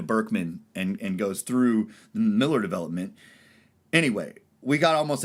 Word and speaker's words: Mueller: But buying a home, and luckily enough, we bought outside of the new Mueller development, or Miller, because we're in Texas.